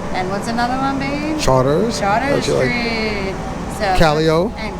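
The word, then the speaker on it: Chartres: You will get to learn how to pronounce those words. Like Chapatoulas. And what's another one, babe? Charters.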